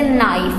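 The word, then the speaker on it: knife: For example जैसे नाइफ है, नाइफ, नाइफ के स्पेलिंग किससे शुरू हो रहे हैं? के से, तो फिर तो उसको नाइफ पढ़ना चाहिए, जबकि हम इसको क्या पढ़ते हैं? नाइफ। तो के इसमें से क्या हो जाता है? साइलेंट हो जाता है, नाइफ।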